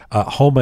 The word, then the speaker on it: Haoma: HOMA is spelled HAOMA, HOMA.